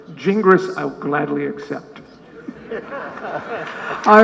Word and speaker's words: Gingras: big debate okay so in English-speaking countries it's best pronounced jingris however I had to